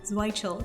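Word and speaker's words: Zeutschel: Zwichel is how you pronounce it.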